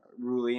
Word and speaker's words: Unruehle: So obviously our last name is very fitting, Ruly, and it's pronounced that way too.